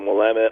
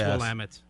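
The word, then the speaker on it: Willamette: wamit Hops and uh I said that wrong will it's will I said it right that's one of Brian's sensitive points cuz he's from that area I am from Oregon it's full Amit and uh we we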